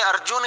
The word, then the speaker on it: अर्जन: Sir, Punjabi में अर्जन जो होता है, हिंदी में उसी को अर्जुन कहते हैं। हिंदी में अर्जुन ही होगा और पंजाबी में अर्जन होगा, ठीक है ना।